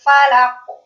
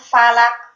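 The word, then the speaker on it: فلق: Qul a'udzu birabbil falaq. Falaq. Mantul. Jadi keliru kalau bacanya falak. Nanti itu masuk ke makhraj yang lain. Kalau bacanya falak itu bisa masuk ke makhraj kaf.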